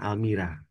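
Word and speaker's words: Almeera: Almira tulisannya Almera bacanya Almira.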